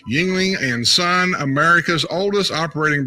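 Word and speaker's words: Yuengling: west coast beer lovers it's pronounced yingling yingling and sun america's oldest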